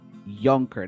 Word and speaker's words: Yunker: other people I'm nurindellian with me is younker did I pronounce that correctly yes you did okay